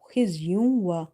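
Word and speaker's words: خِزْيٌ: Kha is heavy first of all here. Then after to the ma you see letter waw which is from your maloon letters, so you have to do idgham with the gunna.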